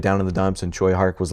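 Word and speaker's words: Tsui Hark: But Choy Hark uh is still a huge name and one that I think I'm pronouncing correctly at this point. I spent a good long while with Tui and I apologize, but I believe I'm I'm closer with Choy.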